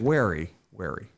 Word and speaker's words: wary: I'm always a little weary whenever you got people that Wary. wary. Sorry, Armand. Depends I'm always on a how you little pronounce it. wary. Well, if he's weary, he means he's sleepy.